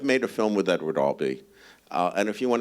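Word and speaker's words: Albee: was also they were alz and he obviously pronounces her Alby and he will correct you if you mispronounce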